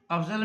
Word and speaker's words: افضل: افضل میں پہلا مفتو ہے، دوسرا ساکن، تیسرا بھی مفتو ہے.